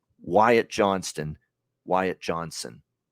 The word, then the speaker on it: Johnston: t in there right there's a t in that last name Johnston Johnston now I know sometimes when you say it quickly it'll sound like Johnson you know but you know if you say it like Wyatt Johnston and maybe the t is not enunciate but it drives me nuts when I hear Johnson for a guy when it's Johnston and I heard that